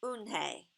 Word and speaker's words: Unhei: Yes, it's pronounced Unhei, and it means grace, Mr.